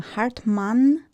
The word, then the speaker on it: Hartmanne: We had some pictures taken here in the studio 2 weeks ago, and wonderful Zane, how to pronounce her surname? Hartmann, because you write it Hartmanne.